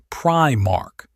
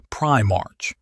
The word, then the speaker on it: Primarch: and keep me honest, it is Primark, not Primarch.